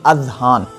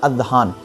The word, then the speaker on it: اذہان: تو میں بتا دینا چاہتا ہوں کہ زا سے اذہان نہیں ہوتا ہے، بلکہ زال سے ہوتا ہے، اذہان۔ یہ تلفظ صحیح ہے، اذہان۔ اگر آپ اذہان کے